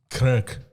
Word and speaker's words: Cork: yeah, we're going to Cork. Kirk. That's how they pronounce it.